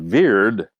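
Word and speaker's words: wyrd: and wrong was called weird and we say today weird with a W they pronounced it as a V and and they said that the the decrees of veir are unchangeable unchangeable well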